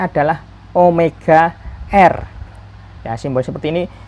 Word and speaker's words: Omega: nah ini dibacanya adalah Omega er simbol seperti ini kadang mungkin bapak ibu guru ada yang bacanya w Hai Nah di sini Bacanya adalah Omega jadi simbol ini dibaca namanya adalah Omega Omega Omega kecil nanti